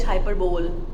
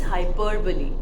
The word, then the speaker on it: hyperbole: po of Earth hyperbole now many people call it hyperb or hyperbole you would have heard it but this is hyperbole please be clear with the pronunciation of this poetic device hyperbole Now what is it